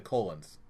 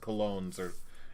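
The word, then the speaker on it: Colón: I know it's pronounced Colognes. It's funny to say colon.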